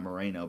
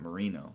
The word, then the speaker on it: Marino: Like not Moreno but Marino like you're saying E.